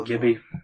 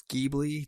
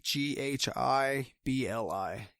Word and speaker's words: Ghibli: because I don't know I believe it's pronounced Ghibli I apologize to anyone who might be offended if I messed it up studio Gibby but I do believe it's Ghibli GHI bli Ghibli but I feel